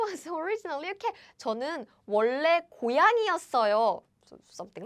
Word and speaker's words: 원래: So it's like 원래. So this is like 워, right? 워. And this is like 원. However, now we prefer having double L's because it's easier to pronounce.